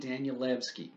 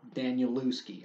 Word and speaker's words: Danielewski: Danielewski, or Danielewski. I've heard it pronounced Danielewski, and it sounds kind of vaguely Polish or thereabouts with the ski in it, so I think the W makes a V sound.